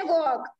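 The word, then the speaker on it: walk: Second है वॉक, जब हम वॉक कहते हैं एल जो है एल साइलेंट रहता है, तो यहाँ पे आप एल को एल के नीचे अंडरलाइन करेंगे।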